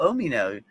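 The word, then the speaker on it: Umino: That's how you pronounce name. Oh, okay. Omino. Okay. Oh, okay. Cool. Omino.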